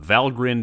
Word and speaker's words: Valgrind: to pronounce them correctly the endings are pronounced grinned and not grind where do they take their names from valgrind is the gateway to